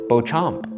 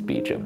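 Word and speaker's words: Beacham: Beecham is a French name and should be pronounced Beauchamp.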